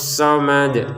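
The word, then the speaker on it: الصمد: Allahus somad. Kata asomad di sini dalnya kita pantulkan lagi ya. Allahus somad. Kenapa? Karena kita berhenti di sini.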